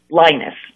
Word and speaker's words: Lynas: But it's spelled Lynas, Linus.